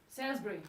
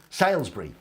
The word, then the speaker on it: Salisbury: Salisbury. Salisbury, which is actually Salisbury.